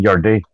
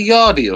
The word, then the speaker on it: Yarde: Didn't he say Yardy or something? Yeah. Oh, I don't know how to pronounce his name. Yeah, I see Yardy sometimes too, man. Yeah, okay. No, it's Anthony Yard.